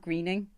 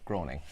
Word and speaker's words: Groening: growing again it's not greening that's groaning I think it is groaning yeah it's groaning I think it is is it's groaning we've never said that word as much in our video groaning listen slacks exciting show